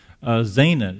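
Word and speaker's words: Zaanan: endure in this conquest Zana it sounds like kind of rhymes with the Hebrew word for come out but they're gonna stay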